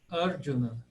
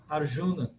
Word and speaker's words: Arjuna: Na verdade é Arjuna. Arjuna. Primeiro A é fechado, o J tem como se fosse um Dzinho aí, e é proparoxítona. Arjuna. Arjuna. Mas nossa tendência no Brasil é falar Arjuna.